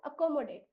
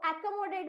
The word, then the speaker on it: accommodate: सही तरीके से पढ़, इसको पढ़ते हैं हम अकोमोडेट। यहाँ पर एक ही ध्वनि है अ, पर शुरुआती दिनों में अगर वो एकोमोडेट भी पढ़े तभी भी चलेगा, पर कंपटीशन के टाइम पे the pronunciation has टू be more clear, and hence उसको बोलो